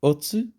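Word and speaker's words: 乙: And it's pronounced otsu. So oats, oats.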